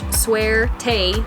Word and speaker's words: suerte: went to public lands suerte pronounced suerte but spelled su er